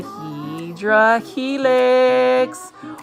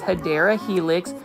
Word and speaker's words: Hedera helix: We've got a Hydra Helix, or the correct way to say it is Hedera Helix, or English ivy.